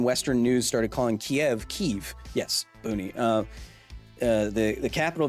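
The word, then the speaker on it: Kyiv: really confused when Western news started calling Kiev Kiev yes boonie the the capital of Ukraine is Kiev because that's how they say it in Ukraine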